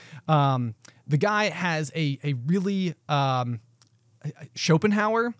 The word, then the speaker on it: Schopenhauer: The guy has a really, Schopenhauer, I believe is how it's pronounced. Schopenhauer, yeah. So Schopenhauer argued that people